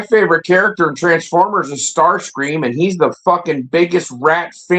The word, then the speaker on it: Starscream: Well, Sautnar thinks that Soundwave is better than Starscream. But if you read I think we mispronounced his name the wrong the whole time. It's Stars plural cream.